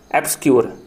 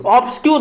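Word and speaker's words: obscure: देखो यार, इसका प्रोनाउंसिएशन होता है, देखो यहाँ पे ए भी हम इसको यूज करते हैं ना, है ना। एब्सक्यूर, एब्सक्यूर, एब्सक्यूर, एब्सक्यूर, ऑब्सक्यूर नहीं बोलना है मेरे भाई, एब्सक्यूर, इसका प्रोनाउंसिएशन एब्सक्यूर होता है मेरे भाई।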